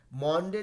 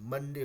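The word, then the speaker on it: Monday: ओ pronounce नहीं कर, जैसे मंडे है MON है, मॉन्डे नहीं बुलाते हैं, मंडे बुलाते हैं, ठीक है।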